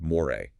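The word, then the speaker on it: Moire: The youngest, Rey, whose real name is, get this, Moray, pronounced Moray.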